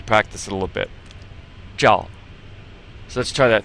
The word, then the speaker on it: 照: So you put the zh and the ao together and you get 照. 照.